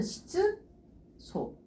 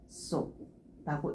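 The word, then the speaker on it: 質素: 그래서 읽어줄 때 원래대로 읽어주게 되면은 시즈 소. 근데 쯔로 끝나는 애가 사 해가 만나다 보니까 최종적으로 읽을 때는 시소라고 읽어주시면 돼요.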